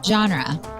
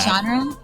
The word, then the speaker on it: genre: Genre. Yeah, I'll give you that. The genre. It's like what is it then? Genre. Genre. Genre. Not genre.